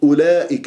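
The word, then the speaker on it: أولئك: تجيب مثل كلمه اولئك هذه الواو فوقها صفر المستدير تكتب ولا تلفظ يعني كانه عندك انت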